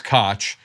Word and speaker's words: Kotch: But it's Kotch and not Koch, and he has nothing to do with them except to have contempt for them.